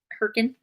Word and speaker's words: Hurricane: Oh, is that how you pronounce it? Hurricane?